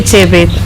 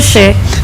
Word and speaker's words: Chebet: If you want to say it properly, say Chebet. What? Chebet. Chebet. Chebet. Chebet. Not She. Chebet.